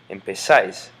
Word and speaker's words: empezáis: And because this word is accented over the A, the vosotros form, empezáis, you notice that this syllable is not naturally stressed, and therefore it doesn't change.